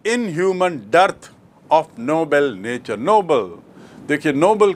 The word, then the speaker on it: Nobel: तो आपको स्पष्ट याद रखना चाहिए कि नोबल मतलब नेक, नोबल मतलब उच्च श्रेणी का, और नोबेल एक व्यक्ति का नाम जिसके नाम से पुरस्कार है।